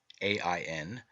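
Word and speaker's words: Aen: this myth John Ain spelled a-e-n -e-i-o-n and a i n three forms of the word and all pronounced Ain represents the redeemed and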